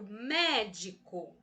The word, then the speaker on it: médico: Vamos intensificar a sílaba me, né? Que é me, é aberto, né? O som é aberto. Eu falo médico.